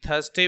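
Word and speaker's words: thirsty: थर्स्टी means होता है प्यासा। और जब इसको हम लोग बोलेंगे तो ये याद रखना है कि इसमें आर साइलेंट रहता है।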